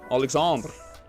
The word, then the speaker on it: Alexandre: Alexandre. That's how you pronounce it in French.